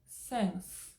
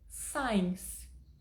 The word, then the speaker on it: since: pouquinho o que acontece muitas pessoas chegam pronunciando saem e tá errado e por que acontece